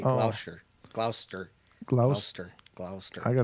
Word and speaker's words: Gloucester: Rivers says, don't pronounce the CE in Gloucester. Say Oh. Gloucester.